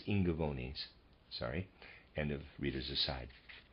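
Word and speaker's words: Ingaevones: the year readers aside i'm pronouncing i n g a e v o n e s as ingavonis sorry and of readers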